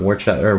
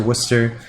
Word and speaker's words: Worcester: in a couple weekends up in Worcester not war chatter watch it how do you say it Worchester Worcester Massachusetts yeah and shine classically being